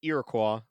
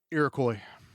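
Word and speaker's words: Iroquois: Character arc is really great because he is a French knight who has an Irakqua. Is that how you pronounce it? Irakcoy.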